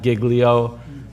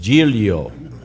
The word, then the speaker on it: Giglio: Additionally, we are pleased to be joined by Assemblymember Joseph Giglio, representing, you notice how I pronounced that? So you don't say it's not Giglio, it's not Giglio, it's Giglio, representing the Assembly minority,